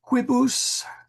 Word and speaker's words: quibus: Wanting to make that a long I for some reason. Quibus instead of quibus. Quibus. No, it's long I.